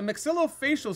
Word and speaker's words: maxillofacial: pronounce this professional title oh here we go m-a-x-i-l-l-o-f-a-c-i-a-l surgeon pronounce this professional title maxillofacial surgeon that is